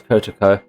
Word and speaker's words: Kotoko: Oh, I actually pronounced it right. It's Kotoko.